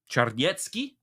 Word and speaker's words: Czarniecki: Czarniecki is the Polish pronunciation.